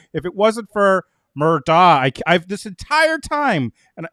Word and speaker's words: Murdaugh: So it's Murdaugh.